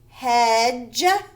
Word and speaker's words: hedge: Okay, so yesterday we talked about DGE is the soft sound of G, so it is a J sound. So when you see DGE, it says J. So this says hedge.